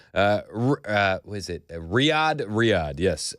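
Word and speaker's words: Riyadh: Riad. Riad. Yes. Riyad. Riad. For the record, I asked Joan Jones how to pronounce that before the show.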